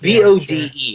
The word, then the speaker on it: Bode: Is that how you say that name? That's Bodhi? how I was saying it. Yes. Just Bode, and I've never seen it spelled like that. It looks like Bode, and every time I would see it, I would think Bode, and I would think